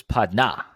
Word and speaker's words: partner: And sometimes they put the accent on the second syllable, so it's padna.